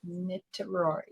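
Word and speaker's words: Niterói: A place called Nitaroy. It's pronounced Nitroy.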